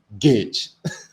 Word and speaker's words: gauge: that it's called borden gauge i know english is just so weird there's a letter u over there but it's not even heard g-a-u-g-e gage is like totally senseless anyway yeah that's